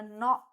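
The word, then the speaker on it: gnat: स्वट चप न हा जी जरी असेल तरी याला न म्हणजे याच स्पेलिंग जरी जीने सुरू होत असेल जी सायलेंट आहे याला न असं म्हटलं जाईल ठी सो ज्यावेळेला आपण फ्लॅट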